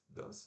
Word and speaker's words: dance: Depois temos dançar, né, dance, que se escreve D-A-N-C-E, como se fosse dance, dance normal. Mas se pronuncia D, o A-E, né, que a gente viu lá, aquele som danadinho lá do inglês. N-S. Então, dance, dance.